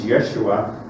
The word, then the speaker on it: Yeshua: but it says reading right to left yes Yeshua not yesu yesu or yesu and the reason